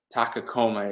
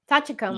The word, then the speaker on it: Tachikoma: the Shell thing because I think it's a Takakoma is how it is. I'm sure I got it wrong, but I know that you were. Tachikoma.